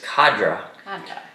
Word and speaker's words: cadre: I had to look that up to see how you pronounce that. It's cadre.